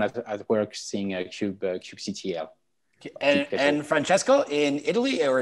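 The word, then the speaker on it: kubectl: so i guess uh back home we say uh cube ctl um uh but yeah i i guess the right way is keep control uh but i think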